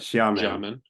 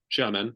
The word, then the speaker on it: Xiamen: pronounce that? Xiamen. Xiamen, China, Mhm.